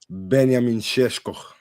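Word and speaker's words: Benjamin Šeško: Obviously, I was talking Benamineshk. That's how you say his name properly.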